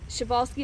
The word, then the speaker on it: Przewalski: in the united states so um chevalski is actually spelled with a p now will these horses